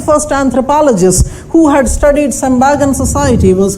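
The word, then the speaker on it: Tsembaga: T is silent, we call it Sembaga.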